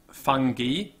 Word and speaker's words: fungi: And of course, the old English pronunciation of Latin, which is now pretty much extinct, is often used by botanists. And so you say fungi, and algae, right?